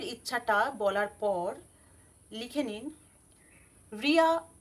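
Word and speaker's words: Reya: এরপর মনের ইচ্ছাটা বলার পর লিখে নিন রিয়া অ্যাসপেরা রেহমা নীতিকা।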